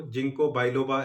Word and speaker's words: Ginkgo biloba: की जिसका नाम है जिनको बिलोबा या जिनको बिलोबा जैसे भी प्रोनाउंस करें आप उसको जिनको बिलोबा एक्चुअली हम लोग प्रोनाउंस करते हैं होम्योपैथी में उसको और एक बहुत पुराना